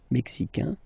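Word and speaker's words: Mexique: the mexic and then remember this Q it's only mexic okay Brazil Brazil okay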